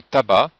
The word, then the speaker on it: tabac: Mais attention, dans tabac, le C ne se prononce pas.